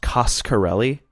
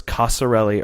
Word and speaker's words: Coscarelli: thing I learned for sure is that it's pronounced coscarelli okay I wasn't sure if it was Casa le or Costco le so I was glad he clued us in